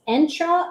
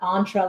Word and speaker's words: Entra: called Microsoft entra and it's entra like if anyone's old enough to remember the Nissan Sentra it's not entra like entree so I'm gonna I'm GNA